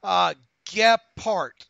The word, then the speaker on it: Gephardt: Gephardt is how he pronounced his last name.